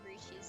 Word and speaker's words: breeches: I always call them breeches because that's how it's spelled.